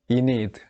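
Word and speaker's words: Aeneid: 뭐 우리말로는 아이네이드, 뭐 아이네이스, 혹은 뭐 잉글리시로는 이니드 이렇게 뭐 발음한다고 하는데, 이 대서사시 중에 퀸 디도의 얘기가 나옵니다.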